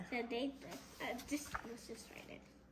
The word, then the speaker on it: sedete: Sedate. Sedete. Let's just write it. It's all about You know how to spell it?